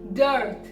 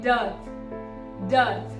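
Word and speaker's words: dearth: we have to say does r is completely silent and trth is also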